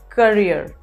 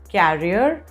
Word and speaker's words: career: it's tuition the next one is career it's career not carrier as most people mispronounce it as carrier it's courier carrier is